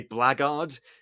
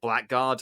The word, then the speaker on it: blackguard: you would say that in england we would say blaggard in america you might say blackguard i don't know how